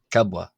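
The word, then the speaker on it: ⲕⲁⲃⲃⲁ: pronounced as a w but when you have two bs like this the first b will be pronounced as a b and the second one as a w so that's why it's the letter kabwa gabwa then we have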